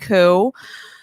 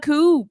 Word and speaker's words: coup: to find out that you don't pronounce the pee and coo that was a really rude way i was going up to my friends being like oh my god what a coop they all were like